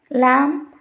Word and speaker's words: lamb: The first condition is B is not pronounced after M at the end of a word. If you see the examples, cum, thumb, climb, crumb, lamb, etc.